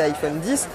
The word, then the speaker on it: iPhone X: autre nouveauté de cet iPhone X à prononcé iPhone 10 c'est ce double capteur